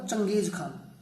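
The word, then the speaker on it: चंगेज़ ख़ान: कहां से आया था ये इन्वेडर था इसका नाम था चंगेज खान। इसका प्रोनाउंसिएशन ऐसे होगा, चंगेज खान।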